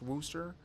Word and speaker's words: Worcester: can't stand them and yes I know it's pronounced Worcester but it is not even close to being